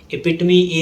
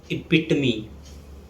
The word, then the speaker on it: epitome: Epitome is the perfect example of something. In Hindi, it can be translated as Adarsh Udaharan. So the correct pronunciation is epitome. It's often mispronounced as epitome or epitome.